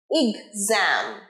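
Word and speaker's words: exam: working hard ঠিক আছে ফর দা ফর র silent for দা এক্সাম এক্সাম নয় এ নয় ই এক্সাম বলো আমার সাথে এক্সাম ইগজাম রাইট এক্সাম আরেকবার শি is working hard for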